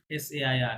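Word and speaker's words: ça: সো এটার মানে ওই সি কখনোই কা উচ্চারণ হবে না, এটা সবসময় সর মতো উচ্চারণ হবে। ফেতসা কি হবে? ফেতসা, ঠিক আছে? Fêtons sa.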